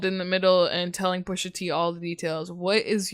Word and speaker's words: Pusha T: with Drake's baby mother, claiming to had given Pusha T the information. Why'd you say it like Steve Harvey? Pusher T.